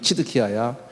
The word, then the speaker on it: 치드키야: 요시아의 막내 아들 이름이 다른 이름이었는데 저 바빌론 왕이 그냥 너 이름 치드키야야. 옛날엔 시드키야라고 했는데 발음을 지금은 치드키야라고.